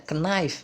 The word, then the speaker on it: knife: Knife, ingat ya, biasanya dulu kalau saya pas awal belajar itu kalau ada K, N, nah biasanya K-nya tuh dibaca knife gitu, padahal salah ya.